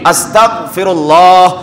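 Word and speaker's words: أستغفر الله: সন্নিবেশ করার ক্ষেত্রে যুক্ত করার ক্ষেত্রে শিয়ারের সাথে উচ্চারণ করতে হবে আস্তাগফিরুল্লাহ তারপরে গাইন বা বাংলাতে গ খ গ দিয়ে আস্তাগফিরুল্লাহ আস্তাগফিরুল্লাহ এভাবে পড়তে হবে আস্তাগফিরুল্লাহ করলে গুনাহ হবে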